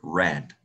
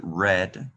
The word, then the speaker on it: read: I read a book, read. Lo pronuncio así, read, porque está en pasado, okay?